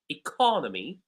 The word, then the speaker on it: economy: So the word economy, the second syllable is stressed. So we have e, co, no, me. The word has four syllables. In the first case, economy.